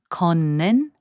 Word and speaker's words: 걷는: 걷는, which means walking, is pronounced as 걷는.